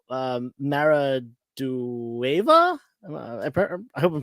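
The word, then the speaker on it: Maridueña: I think it's Sholo Maradueva. I hope I'm pronouncing that right. Maraduena? Maraduena.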